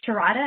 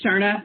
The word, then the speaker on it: Sharda: do have, is it Sharada? Am I pronouncing that right? It's close, Sharda. I have a silent second eye. It's hard when you're reading it.